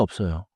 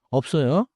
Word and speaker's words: 없어요: 커피가 없어요. Here, 없어요 keeps the lip stop and the strong 써요 sound.